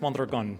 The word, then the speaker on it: Mondragon: Very nice, Mondragon. Thank you so Mondragon. much. Yes. Got to roll that R.